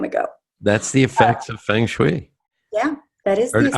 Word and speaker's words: Feng Shui: how do you say it? Feng Shui or Feng Shui? Feng Shui. Yeah, Say it again. I'm saying it with a very American accent, right? Feng Shui. Feng Not Shui.